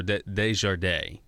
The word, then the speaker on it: Desjardins: I think they pronounce it, though, Desjardins. I know. I'm sorry. That's what the other lady said before, Joe. I know it doesn't spell that. It's spelled weird.